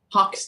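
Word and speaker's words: Haux: nice oh that's too nice hot Hawks Hawks h-a-u-x's Hawks in this capacity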